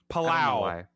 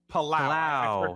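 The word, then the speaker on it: Palou: Palao. Palao. That's what it is. See, I don't even know what the fake pronunciation is.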